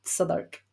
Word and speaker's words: Southwark: So, Southwark, for example, in London is spelled Southwark, Okay. but it's Southwark.